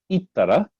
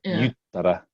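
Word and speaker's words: 言ったら: You can say, excuse me, either ittara or yuttara. Both of these are acceptable.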